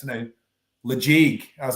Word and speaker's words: Ledaig: Deanston, Ledaig, Tobermory, Bunnahabhain, our blends, our gins.